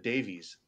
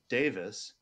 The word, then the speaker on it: Davies: Oh, I almost said Davies. Davis. So I guess you pronounce that Davis in British.